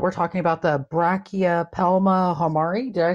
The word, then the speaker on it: hamorii: It's Hamorii. Hamorii. Formictopus. No. So, guys, like, I butchered the Formictopus name.